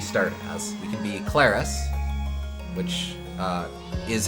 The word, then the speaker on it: Claris: We can be ClariS, which uh is how it's pronounced, and or we can be Elliot.